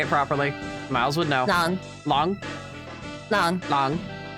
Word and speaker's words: Lang: Long. Long? Long. Long. Not like long, but long.